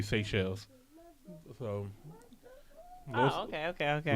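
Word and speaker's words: Seychelles: have American uh tongues so it is SE shells yeah SE shells okay so that's we've been saying it right oh yeah yeah he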